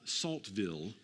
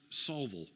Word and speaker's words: Saltville: it the way it's written you would call Saltville but it's pronounced solvil and it's spelled with the word salt like